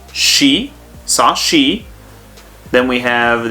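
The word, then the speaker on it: し: section so it's sa s with the i has a special sound and that is she saw she then we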